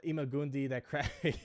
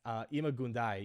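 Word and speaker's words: Ima-Gun Di: I'm Imagundi. Yeah, I know. I always say it wrong. It's Imagundai.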